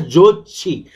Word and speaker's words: Jachi: Jachi is pronounced as Jochi.